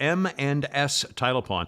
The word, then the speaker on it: M and S Title Pawn: in beautiful bremen georgia m and s title pawn i say it like that because the name of the company is the letter m and then the letter s title pawn so it's m and